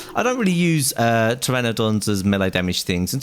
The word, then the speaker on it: Pteranodon: Polly here a little pterodon that we got yesterday or Pteranodon sorry I know always say it wrong uh and this thing